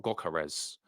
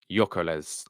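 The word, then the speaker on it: Gyökeres: yeah is y carez like you don't pronounce a g yeah uh Y carez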